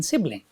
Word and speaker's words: sibling: number of syllables in sibling siing s Ling there are just two syllables and where does the stress fall stress falls on the first on the first syllable now is next word